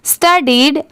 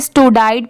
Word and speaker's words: studied: स्टडीड, STUDIED, इसे क्या पढ़ेंगे? स्टडीड। बहुत सारे लोगों को इसमें भी कंफ्यूजन होता है, इसे स्टूडाइड पढ़ते हैं, बट इसकी प्रोनाउंसिएशन क्या है? स्टडीड, ठीक है?